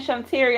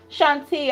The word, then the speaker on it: Shantia: Why I keep saying Shantiria? I'm thinking about this morning. Shantia, I do apologize.